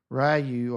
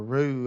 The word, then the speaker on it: Ryu: there's a scene where Ryu or Rue, I'm not sure how he pronounces it, how they pronounce his name, but I think it's Rue.